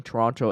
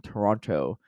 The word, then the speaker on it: Toronto: shout out Hammerheads factions the last T isn't pronounced it was funny that this is like the fall coming isn't pronounced in Toronto uh Toronto um post